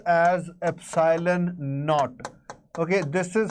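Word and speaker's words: epsilon naught: Okay, it is pronounced as epsylon KN. Okay, this is how you will uh hear people uh calling it out, pronouncing it. It is called epsylon KN.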